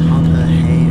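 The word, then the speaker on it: Harpurhey: on this to Harper as I said it wrong last time it's harpery is officially now um so I'll see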